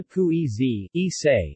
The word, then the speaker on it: pugliese: Pizza pugliese, Italian pronunciation, pizza pugliese, is a style of pizza in Italian cuisine prepared with tomato, onion, and mozzarella.